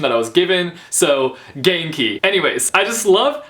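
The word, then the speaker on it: Ganke: best friend's name, and I believe it's Genki, so I hope that I'm saying that correctly. I looked up the pronunciation, and that's the pronunciation that I was given, so Genki.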